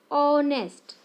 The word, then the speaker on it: honest: Now look these words like HOUR, HONEST, honest. Here we find first letter is consonant, but its sound is R. Honest, R A, and in R H is silent. In honest, H is silent.